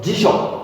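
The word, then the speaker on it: じしょ: 그래서 지쇼 2박자로 발음해야 돼요. 지쇼 이렇게 지쇼 3박자로 발음하면 안 됩니다.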